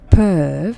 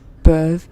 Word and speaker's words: peuvent: Est-ce que les enfants, donc, peuvent, and again, don't pronounce ENT, est-ce que les enfants peuvent venir?